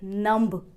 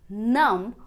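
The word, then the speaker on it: numb: track ये है की जब भी एम और बी ये दो लेटर साथ में आएंगे तो अधिकतर 99% केसेस में बी साइलेंट मोड पर चला जाएगा और हम इसे नंब या क्लाइंब नहीं पर नाम और क्लाइंट प्रोनाउंस करेंगे नाम का मतलब होता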